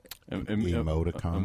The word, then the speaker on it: emoticon: And then she puts how do you pronounce, is it Emmy token or Emmy? Emoticon.